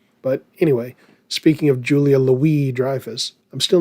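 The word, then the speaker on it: Julia Louis-Dreyfus: Have you ever noticed how they pronounce her middle name? They pronounce it Louie. Where's the S? Why isn't it Louise?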